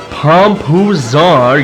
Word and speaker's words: Pompazars: Thothwaite Pompazars. Pompuzar, you grudge-listening airhead. Accent on the third syllable. It's Anglo-Norman, you know.